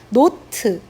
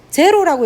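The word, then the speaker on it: naught: 노트. 제로라고 읽으면 안 됩니다. 노트라고 읽어야 됩니다.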